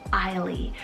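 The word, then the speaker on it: Eisley: also have the name i lea cell e-i-s-l-e-y ailee i really do love both i really couldn't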